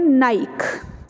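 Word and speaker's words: Nike: हम उसको बोलते हैं नाइक. ठीक है, आई एम श्योर आपको सबको पता होगा इस ब्रांड के बारे में. ठीक है, हम इसको बोलते हैं नाइक, जो कि गलत है. इट इज़ नाइकी.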